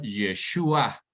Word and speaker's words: Yeshúa: eterno y por eso se pronuncia yeshua no O sea sino Joshua traducido hoy como Jesús Bueno